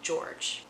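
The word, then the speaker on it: Georges: with an S Bend it's not pronounced any differently it's just George with an S at the end and he makes it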